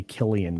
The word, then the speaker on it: Cillian: yeah I know a lot of people say Killian Murphy it's spelled sillian but yeah all right ah you